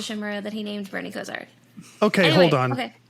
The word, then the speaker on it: Kosar: It reminded me of Bernie Kosar. Kosar? Am I saying it right? Kozar, yeah.